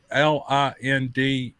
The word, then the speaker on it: Lindemuth: by clayton lindema and i think i'm pronouncing his name correctly l-i-n-d-e-m-u-t-h lindemuth does that sound right